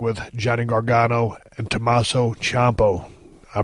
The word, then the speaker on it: Ciampa: This is the show where I saw the Revival, Dash and Dawson work with Johnny Gargano and Tommaso Ciampa. I pronounced his name right.